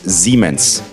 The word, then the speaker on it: Siemens: We're close because the S in German can be pronounced as a S sound at the end of the word, but in the beginning it's generally a Z sound, so it's Siemens.